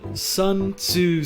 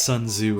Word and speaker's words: Sun Tzu: the soul uh uh Sun TSU said that in the Art of War to the art of a balanced breakfast I think his name is technically pronounced Sun Tzu and I totally butchered that but uh I'm not